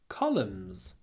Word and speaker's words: columns: Next, таблица состоит из строк, rows, и столбцов, columns. A table has rows and columns. You can see at the end we've got n, but we don't pronounce the n.